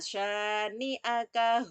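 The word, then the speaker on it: شَانِئَكَ: Inna sanya syanya itu juga panjang ya, karena ada alifnya. Habis harokat fathah diikuti alif, maka panjang satu alif atau dua harokat. Inna syani'aka huwal abtar.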